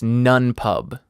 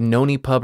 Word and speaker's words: Nonepub: have to correct myself it's none pub it's basically unpub it's a pun i said noni pub or nani pub or whatever i feel real dumb